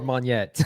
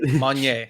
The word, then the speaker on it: Monyet: Monye or Monyet. Don't forget Monye. Monye. That's the official pronunciation, Gotcha.